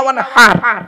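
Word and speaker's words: وانحر: ফাসাল্লি লিরাব্বিকা ওয়ানহার, ওয়ানহার নয়, ওয়ানহার। এই গলার ভেতর থেকে হে এটা উচ্চারণ করবেন।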